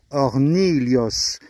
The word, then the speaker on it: Hornillos: Nouvelle règle de prononciation de l'espagnol aujourd'hui, à savoir la L, les deux L qui sont là, ça se prononce comme s'il y avait marqué un L et un I. Lios. Donc on dit Hornillos.